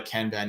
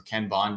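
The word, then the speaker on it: kanban: or ClickUp they know what a canban is or can bond depending on how you pronounce it but uh allows you to organize your tasks.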